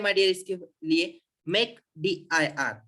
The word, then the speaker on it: mkdir: तो देखो simple command है माय डियर इसके लिए, मेक dir। देखो MK, देखो आपने इसका प्रोनाउंसिएशन भी करने जाएंगे ना तो डायरेक्ट मेक हो जाता है।